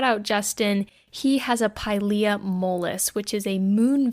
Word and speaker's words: Pilea: It's not Pilea, it's Pilea. So we're doing a Pilea care guide today. And this was actually a request by Justin on Instagram. Shout out Justin. He has a Pilea mollis, which is a